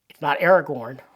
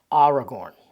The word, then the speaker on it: Aragorn: It's not Aragorn, it's Aragorn.